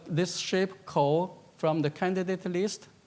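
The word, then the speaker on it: 口: It's pronounced as Kou, but assume you don't know.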